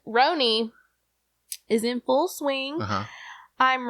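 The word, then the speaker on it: RHONY: Housewives of New York is that how pronounced Rony yeah that's how that's what the you know girlies call it roony is in full swing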